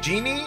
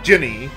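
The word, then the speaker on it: Djinni: Yeah, that's, I believe it's pronounced Genie, at least according to the dictionary, so I have an official pronunciation of that word. Even though it's not spelled G-E-N-I-E, I think it's the same pronunciation.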